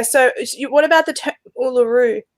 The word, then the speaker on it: Uluru: The correct pronunciation is not Uluru. It's more Uluru. That's how it should be pronounced. So all those who say Uluru, they're pronouncing it wrong.